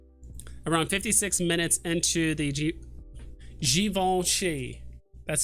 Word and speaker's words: Givenchy: Okay, so around 56 minutes into the Givenchy. That's how you're supposed to pronounce it, apparently.